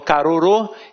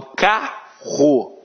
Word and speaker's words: carro: Eu não falo carorô, eu falo carro.